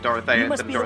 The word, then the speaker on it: Dorothea: Dorothea is a character I believe they pronounce it dorothia no one's talking about